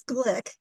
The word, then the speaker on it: Glick: last name I'm sorry it's Glick weird but but yeah not not the way it's spelled okay so Patty Glick